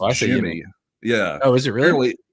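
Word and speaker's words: Yimi: The manager, Schneider, said that, now I say Yimmy. You say tomato, I say tomato, but it's pronounced Jimmy. Yeah. Oh, is it really? Apparently it's pronounced Jimmy with a J.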